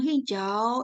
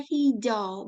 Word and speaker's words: hijau: biru kalau seri yang hijau ini ada vokal ya dua vokal tapi dibacanya hijau bukan hijau karena a sama u itu berubah suaranya jadi kita ingat kalau